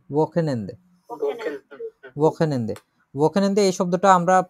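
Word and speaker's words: Wochenende: উচ্চারণ করি তো আমরা ওয়াকেনেন্দে, এটা একটু জটিল আছে। ওয়াকেনেন্দে, ওয়াকেনেন্দে, ওয়াকেনেন্দে এই শব্দটা আমরা প্রায় সময় পাবো এরপর থেকে।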